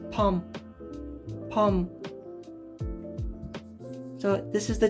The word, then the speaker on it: Bom: this as the g-maid bomb as in like the explosive but it's actually korean for tiger and it's not pronounced bom it's pronounced pom so the bo is